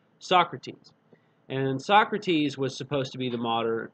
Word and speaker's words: Socrates: as spelled like it's Sokrates but it's actually pronounced Socrates and Socrates was supposed to be the Mater